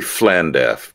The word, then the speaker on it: Llandaff: I think it's supposed to be Llandaff, but LL is pronounced FL, but we'll call it Llandaff for our American audience.